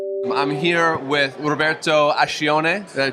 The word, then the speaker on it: Ascione: I'm here with Roberto Ascione. Did I pronounce that correctly?